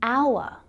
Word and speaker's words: hour: The same thing happens with consonants that are silent or they're pronounced as vowel sounds, like in hour, where the H is silent.